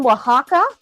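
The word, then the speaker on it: Oaxaca: me here it says you see the o a x a CA that's pronounced Waka everybody I know it looks like oaka or something like that no that's Waka uh I love Waka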